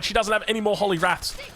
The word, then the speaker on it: Holy Wrath: She doesn't have any more Holy Wraths. I did incorrectly pronounce this as Holy Wraith previously.